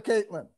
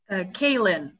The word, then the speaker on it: Kaylin: Caitlin, did I see you earlier, Caitlin? Kaylin, no T.